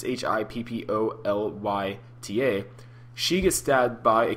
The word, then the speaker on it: Hippolyta: So during this battle, Wonder Woman's mother, who I have the hardest time saying her name, Hippolyta, I think that's how you say it, it's Hippolya, she gets stabbed by a corrupt Amazonian named